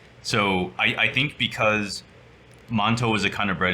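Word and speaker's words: 馒头: you'll like it that those two characters are pronounced montol in in Chinese and it is actually a kind of bread so manto like that is the kind of bread usually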